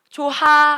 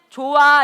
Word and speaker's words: 좋아: 이거 나는 네가 참 조 이렇게 발음해요. 조 아니죠. 어떻게 발음해? 좋아. 이렇게 발음한다고. 좋아. 히 어디 갔어? 없어졌어. 그지?